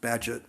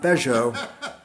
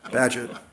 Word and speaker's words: Badgett: elbow and said, "Frank, it's pronounced Badgett, not Badgeot, Badgett."